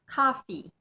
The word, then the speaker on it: coffee: começar com café café ela termina com e só que na nossa pronúncia a gente vai finalizar essa palavra com som de i Então a gente vai falar Coffee agora a palavra tosse